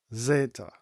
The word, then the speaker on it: zeta: And our next letter is the letter Zeta. Zeta Z very similar to the English letter zed or Z.